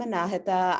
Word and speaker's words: Anahita: second day there you go um hi i'm anahita i graduated from usc last year um don